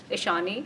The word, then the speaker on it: Ishaani: all right so let's hear you say it ishani ishani yeah has it ever been mispronounced it's been like misspelled okay how's this